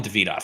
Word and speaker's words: Davidoff: I want to call him Davidoff because it's more sophisticated, but he says it's Davidoff, so we'll go with that. Oh, then I've been saying it wrong.